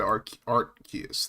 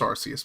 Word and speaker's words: Artus: Um, let's look at Artus, though. It's not pronounced Arus, by the way.